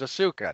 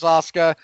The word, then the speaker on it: Asuka: Yeah, for a while I was doing that with Asuka because of the way they spelled it. I know you wanted to say her name was Asuka. No, she's Asuka. Inosuke.